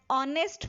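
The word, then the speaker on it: honest: Before common noun singular beginning with silent H. उस singular noun से पहले जो साइलेंट एच से आरंभ होता है, जैसे एन ऑनेस्ट मैन, एच से शुरू हो रहा है बट ओ को प्रोनाउंस कर रहा है ऑनेस्ट मैन, N honourable man, एन R, etcetera.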